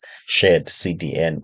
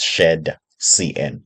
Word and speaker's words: shadcn: had uh that problem but some people may pronounce it as shared CDN I would like to assume the reason is